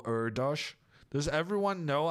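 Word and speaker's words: Erdős: do it in Polish Hungarian is kind of strange though it's urdosh just like the mathematician Paul erdosh does everyone know how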